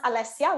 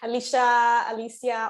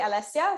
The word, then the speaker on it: Alessia: So my name is pronounced Alessia, which is you nailed it, which is good. A lot of people get it weird. Alicia, all kinds. But yeah, it's actually Alessia.